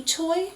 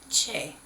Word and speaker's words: Choi: look at it that the last name is spelled Choi. Now, Krista, do we actually say Choi? No. That's correct. We say Che. That's perfect. So even though it is spelled C-H-O-I, that is based on the kind of combination of the characters, with the consonant being that ch sound, so a C-H, and then there being two vowels associated with that name,